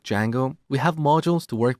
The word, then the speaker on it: Django: D Jango so it's spelled with a silent D and it's pronounce Jango it's a web framework